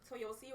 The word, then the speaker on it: Toyosi: So my name is Toyosi. I talk really fast, so I'm just going to try and slow it down. But Toyosi rhymes with Toyota.